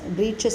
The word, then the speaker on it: breeches: Breeches is short trousers, short trousers, and it is pronounced as breeches actually, and the spelling also is different.